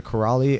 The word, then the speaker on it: Kiraly: and type in my name name it's corali and it's with a K can you spell it please it's v i k t o